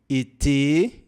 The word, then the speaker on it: été: Lembre-se que ó, o acento agudo, que em português nós falamos é, em francês é o contrário, tá? A pronúncia do acento agudo em francês é e. Por isso que aqui você fala été volé, tá bom?